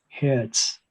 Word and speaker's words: Herz: Z now better, because Z is pronounced as set, which makes it very obvious that T is dominant. So that's why the word for heart in German is pronounced as Herz.